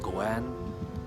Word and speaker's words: ご縁: And also, in Japanese language, the pronunciation of Goan is same as the 5 yen Goan.